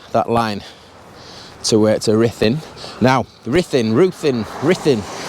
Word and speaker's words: Ruthin: Now, Ruthin, how do you say that? Now, my Welsh correspondent, who I'll blame for this if I'm getting it wrong, he's saying it's pronounced Ruthin or Ruthin.